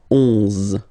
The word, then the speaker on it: onze: 11, okay, so O plus N give you the sound on, onze, onze, okay, final E doesn't exist phonetically, onze, okay, douze, douze, O,